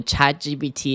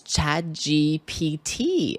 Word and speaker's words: ChatGPT: The stress in GPT is in the first syllable, G.